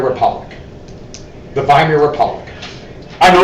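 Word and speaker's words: Weimar: a democracy called The viir Republic the viir Republic I know it's a w but you know W's in German or pronounced as a v it's actually a really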